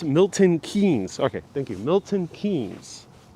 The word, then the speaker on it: Milton Keynes: for letting us know the name just kate milton kenis might be mispronouncing that okay thank you so much for